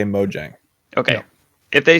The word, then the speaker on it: Mojang: Is it Mojang or Mojang? Because I've heard it both ways, boys, and we need a resolution on this. People at Microsoft now say Mojang.